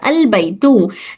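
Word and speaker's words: البيت: अलबैतु the house is pronounced as अलबैतु।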